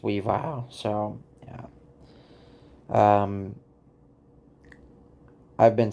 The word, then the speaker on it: Weavile: And his name is not Weavile, it's pronounced Weavile.